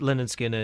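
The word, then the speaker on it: Lynyrd Skynyrd: So, you did like pronounced Leonard Skinner, you did Second Helping, and you did Nothing Fancy.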